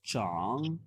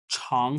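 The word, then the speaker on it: 长: यस, चांग। ये जो character है बेसिकली इसकी 2 प्रोनाउंसिएशन होती है। इसको छांग से भी पढ़ा जाता है, हमने पहले भी पढ़ा हुआ है।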